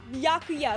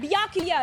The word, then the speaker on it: Byakuya: Ba Ba Bakuya. Byakuya.